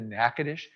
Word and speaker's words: Natchitoches: Um, by the way, if you haven't been to Natchitoches, do y'all know Natchitoches?